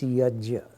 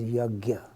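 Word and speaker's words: यज्ञ: The Sanskrit word is yajna. In North India it gets pronounced as yagya. And more or less I try to point out that yagya, or even the notion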